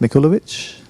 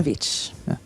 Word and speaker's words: Mikhailovich: Mikhailovich. Perhaps you do better. Mihailovich. The K is silent.